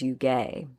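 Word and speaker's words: युज्: The word yoga comes from the Sanskrit word yuj, or some people pronounce it as yuge, which means to bind or to yoke, basically to connect.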